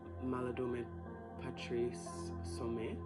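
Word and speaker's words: Malidoma Patrice Somé: I was getting a vision of actually this book that I've read by Maladome Patrice Sume, that's how you say his name.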